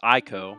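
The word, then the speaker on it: Ico: Their first project was Eco, commonly pronounced in the States as Ieko. Whether that's a misprononunciation or westernization is up to you to decide.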